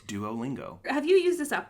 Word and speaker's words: Duolingo: duolingo do it yeah that's how you say it duolingo there's no ch in that in that name it's duolingo have you used this